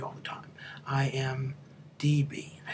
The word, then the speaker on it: IMDb: IMBD all the time. IMDb.